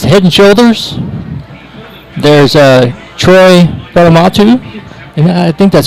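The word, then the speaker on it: Polamalu: There's Troy Palamatu, and I think that's how you say his name. Palamalu.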